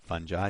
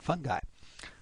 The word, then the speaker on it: fungi: I pronounce it fungi. Some people pronounce it fungi.